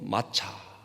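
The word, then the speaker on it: מַצָּה: 무엇인가 무기 5 는 히브리어로 마차 이렇게 발음 할 수가 있는데요 그러니까 에 발효되지 않는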